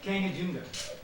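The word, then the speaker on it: Kangchenjunga: in India and so mram how do you pronounce it again Kang junga and highest speak in the world is not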